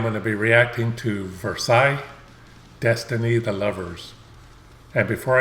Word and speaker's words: Versailles: the name but somebody told me that it's pronounced versailles so that's the way i'm going to pronounce